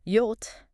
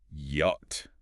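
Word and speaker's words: Jot: And then we hit J, pronounced yot. Yacht. Now that's the big one. Really sets German apart again, doesn't it? It really does. That yacht sound. It's just like our English. Why in yes.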